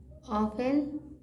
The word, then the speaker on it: often: a slope they often 10 नहीं पढ़ना, D silent है। often take place in कंजंक